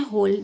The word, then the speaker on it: whole: चलिए आगे पढ़ते हैं, होल, देखिए नेक्स्ट है होल, WHOLE, होल, यहाँ पे W साइलेंट है, होल पढ़ रहे हैं, यहाँ पे भी होल